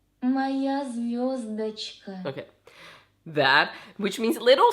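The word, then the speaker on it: Моя звёздочка: Let me hear how that's actually pronounced. Моя звездочка. Моя звездочка.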